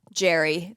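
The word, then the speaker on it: Gerry: his name Jerry yeah but it's spelled like Gary yeah so you think it's Gary but it's Jerry G with a g e r r y trome problematic and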